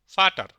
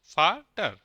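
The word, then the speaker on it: Vater: ইয়া মানে এস হ্যাঁ ভি এর উচ্চারণ জার্মান ভাষা হবে ফাও এফ এর মত ফাটার ফাটার মানে বাবা ডাব্লিউ এর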